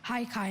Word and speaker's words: haikai: dr bailey hi vikram language of origin japanese hi kai may i have the definition an often playful